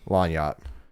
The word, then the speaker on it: lagniappe: that like me up lagniappe well see you say it one way how do you say it Melania long yacht so whatever is wrong I try to G would be silent yeah but I want